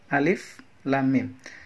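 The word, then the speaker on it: الم: suroh Hai nah bajuan Bagaimana cara membacanya cara membacanya adalah dengan cara menyebut nama huruf aslinya bisanya dia disini Alif jika dibaca alif lam lam seterus Bheem aka dibaca Hai jadi keliru jika kita membaca dengan menggunakan harokat fathah kasrah atau domain jadi disini hanya membacanya dengan huruf aslinya saja contohnya adalah alif.lam.mim Halo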